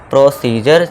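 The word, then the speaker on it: procedure: तो यहां भी क्या हो जाएगा? प्रोसीजर जा का साउंड हमारा देगा डी।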